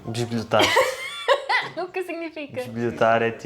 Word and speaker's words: bisbilhotar: "Bisbilhotar" is like... to snoop. Oh ok! "Bisbilhotar". "Bisbilhotar". So? Are you snooping around? Yeah... But the first "i" is not pronounced.